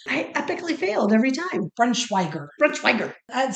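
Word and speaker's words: Braunschweiger: in Northern Ohio and he pronounced it like super German like brush weiger yeah yeah it's apparently supposed to be pronounced brunchweiger schweiger schwager and we say brunch wagger that's true yeah I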